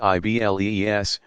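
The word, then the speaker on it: Iblis: diabolical figure is called AI bleah pronounced i BL es from the Greek diabolus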